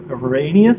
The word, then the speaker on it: Arrhenius: Arrhenius acids? Yes, that's how you pronounce it.